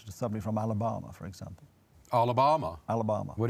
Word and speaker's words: Alabama: By the way, stop saying Alabama. Alabama. It rhymes with Obama.